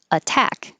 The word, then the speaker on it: attack: This was an example of T changing to D, but the T has to be in the unstressed syllable. So this is possible with water, water, but it's not possible with attack. We have to keep that T a T because it's in the stressed syllable.